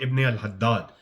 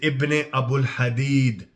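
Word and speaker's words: Ibn Abi al-Hadid: The guy's name is not Ibn al-Haddad, right? His name is Ibn Abul Hadid. It's not Haddad.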